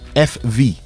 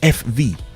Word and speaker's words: VW: or something like that they have a a way of pronouncing F in Germany okay so they actually call the VW FV oh instead of VW because they pronounce v as F and they Pronounce W as V so they call the car FV we've got our friends